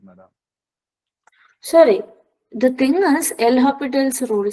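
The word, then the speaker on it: L'Hôpital's: Whatever you pronounce, I pronounce it as L'Hopital's rule.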